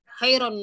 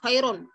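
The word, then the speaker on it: خيرُ: Jadi ukti terdengarnya itu khairun nasi run gitu ya. Oh. Run bukan ru. Ini bedanya apa ya? Jadi kayak antara ini terdengarnya fathah apa domah gitu. Tapi sebenarnya lebih ke dumah. Cuman karena itmamul harokahnya kurang, sehingga terdengarnya khairun nasi gitu. Khairun. Jadi harusnya khairun. Khairun nasi gitu. Jadi khairun nasi.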